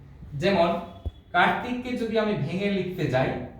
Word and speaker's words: কার্তিক: এবং এই রেফ সব সময় বর্ণের উপরে বসে, এবং যে বর্ণের উপরে বসবে রেফের উচ্চারণটি আগে হবে, রয়ের মতো করে হবে। যেমন কার্তিককে যদি আমি ভেঙে লিখতে যাই তাহলে আগে আসবে র, রেফ।